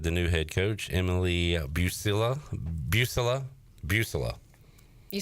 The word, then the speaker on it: Buccilla: So, talking ECU women's soccer with the new head coach, Emily Buccilla. You said it right the first time. Buccilla.